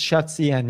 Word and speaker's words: shadcn: Yeah, it's ShotCN.